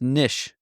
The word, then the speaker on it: niche: another one Niche so Niche that's one that we all say right it's actually pronounced Nish I don't like it